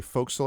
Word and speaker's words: forecastle: Those go up to the Forecastle, I believe is how it's pronounced, which is I always get wrong because it's actually spelled forecastle, but that's not, you don't do all that.